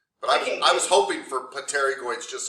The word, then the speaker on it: pterygoids: it um it it it's spelled pottery goings but it's pronounced pterygoids the p is silent you're right me and